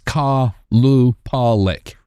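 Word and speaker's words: Qalupalik: And I had I had to pull the pronunciation guide. It's Kalu Pollik.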